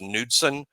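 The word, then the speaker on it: Knudson: n u UD d s o but it's pronounced nudson he is going to get a long look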